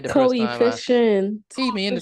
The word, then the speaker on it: coefficient: Coefficient.